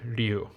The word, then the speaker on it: Ryu: Yeah, if you're wondering, that's the way to say Ryu in Japanese. Ryu. Ryu. It's a one syllable. It's not Ryu. It's not Ryu. It's Ryu. But I know it's hard for English speakers usually.